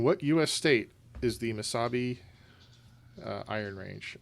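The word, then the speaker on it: Mesabi: u.s state is the masabi uh iron range i don't know if i'm pronouncing that correctly it's m-e yes it's miss misabi m-e-s-a-b-i i'm locked in with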